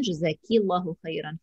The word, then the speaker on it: Jazakillahu Khairan: So Jazakallahu Khairan for a gentleman, Jazakillahu Khairan for a lady.